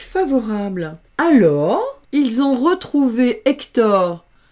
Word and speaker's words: Hector: Ici, c'est un H muet. Ah, j'ai encore oublié de le mettre en lettres muettes. On ne prononce pas le H. Donc, ça fait Hector.